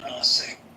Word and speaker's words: Nase: How do you say your name? Let me see. Is it Nase? Yes, Nase.